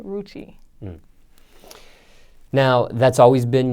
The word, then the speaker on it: Rucci: Rookie, like just crazy stuff. I see. So pronounce it one more time just to be clear. Renni Rucci.